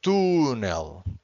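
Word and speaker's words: túnel: For instance, here this word, it's tunel. Tunel without the accent. This would be to nail because the word ends with an L. If the word ends with an L, we always have to stress the final syllable.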